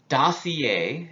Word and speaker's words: dossier: in airports that road that they land on dossier is how this is pronounced adassi is like a file or stack